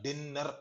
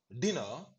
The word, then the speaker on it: dinner: ஏன் ரெட்ல கொடுத்திருக்கிறேன்னா 2 n தொடர்ந்து வந்தாலோ 2 கான்சனன்ட் சேர்ந்து வந்தாலோ அதுல ஒன்ன அடிச்சிடலாம். ஒரு n தான் நீங்க ப்ரொனவுன்ஸ் பண்ணணும் இதுல. இப்ப பாருங்க, நான் டின்னர் அப்படின்னு சொல்ல மாட்டேன். For dinner tonight.